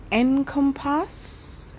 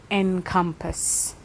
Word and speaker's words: encompass: me so I think I said encompass and I think that's the the wrong I'm putting the stress on the wrong parts of the word I believe it should be encompass but then again I